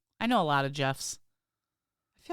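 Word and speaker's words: Geoff: You know, you always want to say it like Gios, but it's just Jeff.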